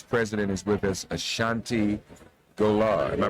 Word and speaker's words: Ashanti Golar: We're going to hear about an organization called Emerge, and its president is with us, Ashanti Golar. Am I pronouncing that correctly?